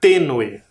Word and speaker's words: tênue: A próxima é a palavra tênue. Vamos separar. Também tem 2 sílabas. A última sílaba é no e. E a penúltima, t. Tênue. Tênue. Também tem sílaba tônica e ela está demarcada por um acento.